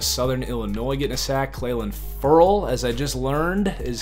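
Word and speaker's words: Clelin Ferrell: rookie out of southern Illinois getting a sack clay land furl as I just learned is how you say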